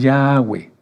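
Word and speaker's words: Yahweh: no decimos ge no no decimos ge decimos yahwe Entonces el Eterno dice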